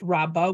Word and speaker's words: Rabba: The convention is that the guy whose name is spelled with a hey, who's the teacher, is pronounced Rabba with a bet, and the guy whose name is spelled with an aleph, who's the student, is Rava.